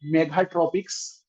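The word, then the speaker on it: Megha-Tropiques: Via this mission we have launched satellites like Meghatropics, Meghatropics, tropics CS मत लिखिएगा, यही spelling है इसकी, Meghatropics, which was a joint mission of India and France.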